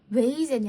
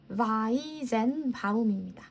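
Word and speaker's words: Weizenbaum: 읽거든 스테이라고 읽는데 근데 우리가 독일 발음이기 때문에 W를 V 이렇게 독일 사람들이 그 발음을 한단 말이죠. 그래서이 사람이 이름도 조셉 웨이젠이 아니라 바이젠 바움입니다.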